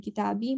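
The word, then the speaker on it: كتابي: are four of them this eye is actually pronounced as ee so kitab okay this means my his my her his and your your book his book her book and kitabi my book so these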